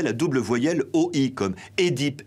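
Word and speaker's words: Œdipe: double voyelle OI, comme Édipe, énologie. Ces termes se prononcent avec un E, mais la prononciation E est devenue courante par confusion avec le second cas.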